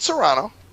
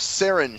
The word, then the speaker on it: Cerrone: No, it's not Serrano. It's Cerrone.